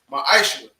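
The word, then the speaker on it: מעשר: It means 10th in the Hebrew, and it's pronounced ma'ashra.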